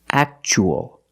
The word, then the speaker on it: actual: And the second word we see t u aa as a second syllable. So the t is pronounced ch actual.